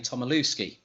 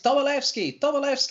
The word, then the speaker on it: Tomilewski: And I used to say his name Tomilewski, so said it as a W, not as a V. He said, and I hear this, no, it's Tomilewski, like that.